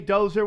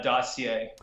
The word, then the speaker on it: dossier: steel dozer right now dossier Dozer what is it dossier or Dozer I been saying it wrong forever uh dossier so the do the